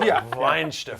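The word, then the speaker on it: Weihenstephan: There's some And the people W's like are pronounced like V's, right? So Weinsteffen.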